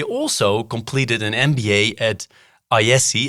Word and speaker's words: IESE: He also completed an MBA at IESE, if I pronounce it correctly. Yes, you do. Do I? Yeah, IESE.